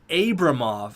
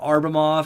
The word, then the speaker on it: Abramov: Tom bomb 40 great username he says it's pronounced Abramoff I know it's nitpicky but I hate when